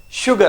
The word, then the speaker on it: sugar: Sugar, like SH.